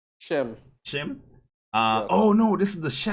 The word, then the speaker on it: Schim: Shim.